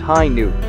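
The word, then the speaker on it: Hi-ν: the RX 93 v2 hi nu gundam pronounced high noon is an alternate interpretation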